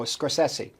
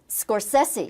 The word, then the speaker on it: Scorsese: Well, Scorsesi, I'm going to get you to pronounce your name. Every star has pronounced it differently. I know. Scorsesei. Scorsesi.